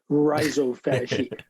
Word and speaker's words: rhizophagy: So I think they pronounce it the Australian way. I pronounce it the New York way, rhizophagy.